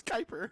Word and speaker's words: Kiper: He's like Kipper? top 10. Kipper? I said Kipper. Mel Kipper. Kuiper. Hyper? There's no, bro, I don't care. Mel Whatever. Kipper. Kiper? It's Kuiper.